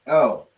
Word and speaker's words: El: Okay, and they would pronounce it El.